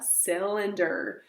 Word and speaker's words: cylinder: next we have a cylinder I know there isn't an S at the beginning of cylinder but remember sometimes we can have a soft C that says like s so a cylinder is